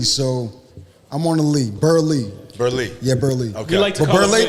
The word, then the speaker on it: Burleigh: One side of the family pronounces it Berlay. The others pronounce it um Berley. So, I'm on a lee. Berley.